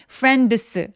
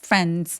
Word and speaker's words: friends: friends 아니고 friends 하면서 D 발음 열심히 안 하셔도 돼요.